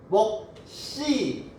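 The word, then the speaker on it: 몫이: 시옷이, 겹받침 중에 시옷이 뒤로 연음이 될 때는 된 소리로 바뀐대요. 그럼 어떻게 발음해야 돼요? 먹쓸, 먹씨, 값쓸.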